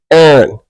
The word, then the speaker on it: Aaron: This guy's name was Aaron. E-Y-R-O-N. Aaron. Not A-A-R-O-N. Not E-I-R-O-N. Or excuse me, E-R-I-N. Nigga's name was Aaron.